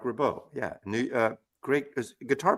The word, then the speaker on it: Ribot: Mark rabau ribi rib I think it's pronounced rabau I could be wrong you're probably right it's Mark rabau yeah new uh great